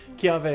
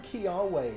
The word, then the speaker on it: Kiawe: If it's in the middle of the word somewhere, it's a V.